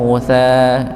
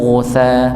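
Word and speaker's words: غثاء: Jadi bukan faja'alahu faja'alahu ghusa, tapi faja'alahu ghuta.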